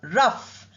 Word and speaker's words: rough: Now look at rough spelling o u but same uh sound and gh pronounced as f rough not as g or g not like that rough.